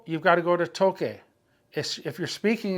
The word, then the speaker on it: toque: Okay, so a U, O, or A after a C is the hard C sound. Ka, ko, ku. But if you put an E or an I after a C, it's the soft C sound. It would be C or say. So when you say toque, you got to spell it with a Q-U-E, toque.